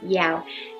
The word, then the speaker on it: Giao: Hey everybody, I'm Yao and welcome to my channel. Hey everybody, I'm Yao and welcome to my channel. My name is spelt G-I-A-O but pronounced as Yao, and I'm an artist.